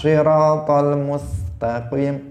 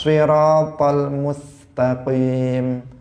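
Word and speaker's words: الصراط المستقيم: Karena itu untuk shad harus diperhatikan. Ihdinas siratal mustaqim, siratal ladzina an'amta alaihim. Jadi shadnya harus benar.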